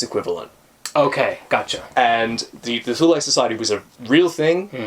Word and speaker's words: Thule: Which we would pronounce Thule Society.